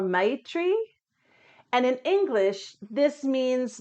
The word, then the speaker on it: Maitri: The Sanskrit pronunciation is Maitri or Maitri.